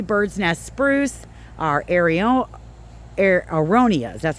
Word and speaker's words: aronias: We love that our 3 bird's nest spruce, our aronias, that's how you say it.